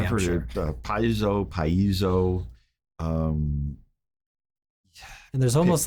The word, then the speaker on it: piezo: which is paizo or paisio. Paisio is Paisio. not wrong. That's incorrect. There's not that many syllables in that word. Right. You know, paizo is probably the closest.